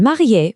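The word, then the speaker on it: mariée: And if you're married, it's marier for a man and marier for a woman. You can hear that little extra e sound at the end.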